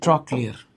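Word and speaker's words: trochlear: All factory অকিলোটর ট্রক ক্লিয়ার না উচ্চারণটা হচ্ছে ট্রক ক্লিয়ার।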